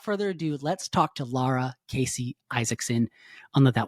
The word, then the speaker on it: Lara: So without further ado, let's talk to Lara Casey Isaacson on the That Was Stupid podcast. Lara, thank you so much for joining the That Was Stupid podcast.